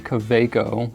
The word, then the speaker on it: Kaweco: I believe that the proper way to say it would be Coco, but everybody that I know calls it Coco, so that's what I call it.